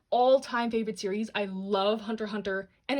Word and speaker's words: Hunter x Hunter: was Hunter x Hunter even though I don't pronounce the X but it's there right here in bold it was between this